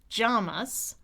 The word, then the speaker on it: Llamas: So, I used to picture him wearing pajamas to remember because I kept picturing llamas because for me it's more like a a Y sound with my tongue tip down.